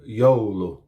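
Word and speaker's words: joulu: Finnish words that begin with the letter j ye would be yanos which is Midsummer in Finnish and then the other one would be yolu which is Christmas in finish uh one Y is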